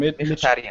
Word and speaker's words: Mkhitaryan: Mkhitaryan.